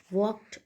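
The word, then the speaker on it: walked: The Maharaja commanded sternly and वॉकड away. से sternly में आर का साउंड बहुत शॉर्ट आता है, स्टर्नली, ठीक है. एंड वॉकड में एल साइलेंट होता है, तो स्टर्नली एंड वॉकड अवे.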